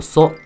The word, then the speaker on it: そ: 起，读作一个是 o so。